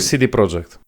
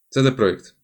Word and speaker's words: CD Projekt: YouTubie za No dobra, a CD Projekt czy CD Project? CD Projekt. Dobrze, sprawdzałem.